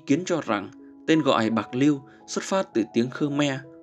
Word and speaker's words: Bạc Liêu: nhạc] 1841 Bạc Liêu Bạc lêu được phát âm theo tiếng Hán Việt từ tiếng Triều Châu là pô léo có nghĩa là xóm